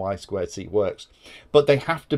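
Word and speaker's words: I²C: see it written as it's actually I squared C is how it's said and that actually has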